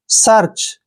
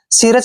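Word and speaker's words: search: है यहां पर लगाएंगे ऊपर सर्च ऐसे ही सिरच नहीं पढ़ना है सर्च सर्च मीन होता है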